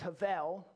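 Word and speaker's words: הבל: word vanity comes from the hebrew word habel most often pronounced havel we're going to go with habel sarah had a lady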